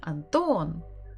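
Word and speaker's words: Антон: in many other languages Anton or is it anthem Anton again second syllable everything is on the second syllable a third visit for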